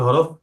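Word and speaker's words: حاء: গলাটাকে একটু চেপে।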